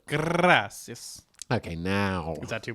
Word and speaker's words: gracias: Gracias. That's actually good. You kind of roll your R a little bit. Gracias.